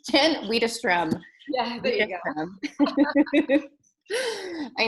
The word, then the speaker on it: Widerstrom: It's Jen Widerstrom.